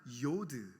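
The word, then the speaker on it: יוד: 찍어놓은 y로 표기된 거를 뭐라고 읽냐면 요오드 이렇게 읽어요 근데 그 요드라는 단어가 어떤 뜻을 갖고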